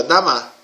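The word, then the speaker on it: דמה: Olha só como fica a pronúncia. E vem a pronúncia novamente aqui, ó, Damar.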